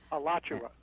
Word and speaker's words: Alachua: nineteen twenty oh my goodness how did she pronounce that again Alachua oh thank you Richard allot you a Florida three two six one five and